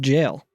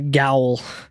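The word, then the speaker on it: gaol: the jail sphere yeah spelled g a o l which took me a very long time to realize it's pronounced jail because it's the jail yes I was calling it a gwl you're right when I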